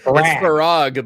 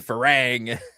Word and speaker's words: Farag: It's Farag, but he's saying Farang.